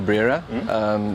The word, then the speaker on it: Brera: This is the Brera? Did I pronounce it right? Yes, it's an Alfa Romeo Brera.